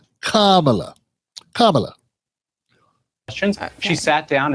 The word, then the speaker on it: Kamala: not answering these question it's KLA not camela you shut up you